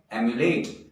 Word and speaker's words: emulate: और हमारा जो अगला शब्द है वो है EMULATE, प्रोनाउंसिएशन है एम्युलेट।